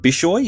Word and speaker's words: Bishoy: Bishoy is that how you pronounce it yes rolled out a Coptic Orthodox